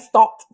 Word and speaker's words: Stott: I don't know if it was a Stott Pilates or Stott Pilates, or maybe I'm pronouncing it stoosh. So tell me what. Maybe you look at Stott is correct. Right. Is correct.